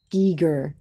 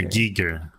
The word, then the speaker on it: Giger: Giger. Hard G then an E sound. G. HR. Giger.